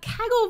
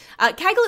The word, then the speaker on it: Kaggle: And it rhymes with gaggle, which is the English word for a group of geese.